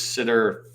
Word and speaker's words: STTR: um so DOD cers sitter yes sir yeah by the way is that how you pronounce that acronym cber and sitter so yes cber and